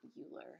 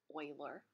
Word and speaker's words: Euler: looks like you were it does not rhyme with Ferris Bueller it's not Euler it's Euler he came up with